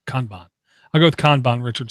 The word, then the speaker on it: Kanban: And I'm being trolled by Richard Hughes, who says it's pronounced Kanban or Kanban. Kahnbahn or Conbon. Kanban.